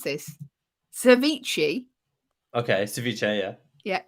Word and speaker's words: ceviche: american dish i don't even know how to pronounce this ceviche okay ceviche yeah yeah it's ceviche so you know what it is already brilliant